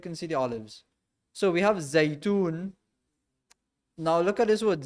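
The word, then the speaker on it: زيتون: So we have Zaitun. Now look at this word Zay. Zay, za, ya is Zay. Now the ya again is not fully pronounced. It's not ya, ye, you. Is a Zay. Zaitun.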